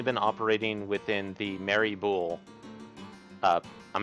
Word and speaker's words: Boule: sure uh or boule i'm not sure how you'd want to pronounce that i i've always liked boule because it's b-o-u-l-e uh i kind of thought i looked at it with kind of the like french type tr pronunciation so that's why i